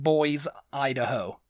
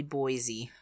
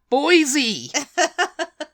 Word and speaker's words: Boise: saw it I read it I was like boys Idaho yeah boys Idaho and it's it's actually Boise Boise like boisey from Only Fools and Horses it's